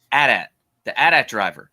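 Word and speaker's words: Adam Driver: it is Canon uh George Lucas said this is how you pronounce it Adat the Adat driver driver I we saw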